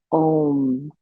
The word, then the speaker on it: AUM: So AUM actually is pronounced Om, and Om means force or energy.